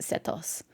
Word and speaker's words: Sethos: from his desert Heritage I'm pretty sure it's supposed to be pronounced sethos it's an Egyptian name he's also talented in